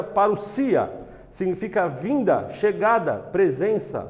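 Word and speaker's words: παρουσία: grêmio quer dizer para o dia que se pronuncia para o sia significa a vinda chegada presença volta visita real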